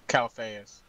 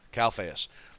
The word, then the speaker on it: Calphayus: tonight I'm extremely excited to have with us calus uh Cal calus calus say it pronounce it for me uh Calas Calas now Calas uh has been a member for